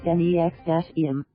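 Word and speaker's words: NXIVM: year prosecutors allege Lanier created the organization instead pronounce NEX - M which touted itself as a professional business providing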